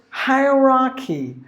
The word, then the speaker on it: hierarchy: And the next word is hierarchy. Hierarchy. There are 4 syllables.